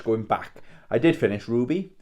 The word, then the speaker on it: RWBY: back I did finish Ruby so RWBY I think last week I pronounced it wrby so sorry if I